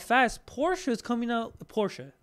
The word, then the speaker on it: Porsche: Porsche. Notice how I say not Porsche. Porsche. Say it right.